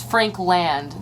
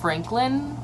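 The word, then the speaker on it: Frankland: Howard Franklin Bridge and it's Frank land not Franklin like I think a lot of us say Howard Franklin Bridge but don't realize it's spelled Frank land yeah it's Jeremy the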